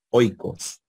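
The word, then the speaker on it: οἶκος: en los diptongos Entonces se colocan los acentos sobre la segunda vocal pero los efectos caen sobre la primera oicos aquí hubiese un espíritu rudo tendríamos que decir jacoicos pero es suave oicos o si fuese en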